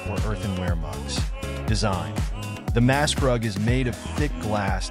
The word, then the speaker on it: Maßkrug: The iconic beer glass used at Oktoberfest is known as the Maßkrug, pronounced Maßkrug, which translates to measure mug in English.